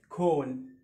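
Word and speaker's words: cone: الاو ساكن اي اللي هي الاي ماجيك اي اللي هي الاي السحري. هنطق الاو باسمه، الاو اسمه ايه؟ او او او مش او مش او او او هيبقى سو اسمه كون كون، مش كون ابدا، مش كون، اسمها كون، مخروط كون، تمام.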